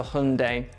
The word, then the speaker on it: Hyundai: simple manner however I will not change from Hyundai to Hundai it's Hyundai number two either in British English